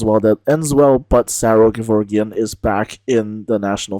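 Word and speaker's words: Saro Gevorgyan: So, all's well that ends well, but Saro Gevorgian is back in the national final. Yes, I know technically it's pronounced Saro Gevorgian, but that sounds weird in English, so I'm not going to do it.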